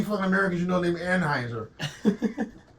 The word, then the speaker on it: Anheuser: How many fucking Americans you know named Anheuser? Don't pronounce the E. It's like Heiser.